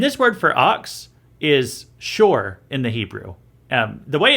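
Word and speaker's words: שׁוֹר: an ox and this word for ox is shor in the hebrew the way it's rendered in english it's s-h-o-w-r it's pronounced it's pronounced shor but it's it's a word that means an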